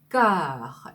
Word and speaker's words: cœur: 이 cœur의 발음을 한번 볼까요? 자, 이 발음의 이 는요. 입술을 O 모양을 한 상태에서 이 O를 좀 크게 벌리는 O입니다. O 한 상태에서 에 소리를 낼 때 나는 발음인데요. 이렇게 발음을 하시면 돼요. 그래서 앞에 세 발음이 끄 발음을 하거든요. 그래서 cœur, cœur 이렇게 발음하시면 돼요.